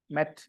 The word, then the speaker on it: met: past simple of meat don't say that way met it's a short a met just because I said need you're not supposed to say made like that okay it's not made it's met mate is m-a-t-e a